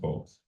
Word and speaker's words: Fowlkes: It's pronounced Folks.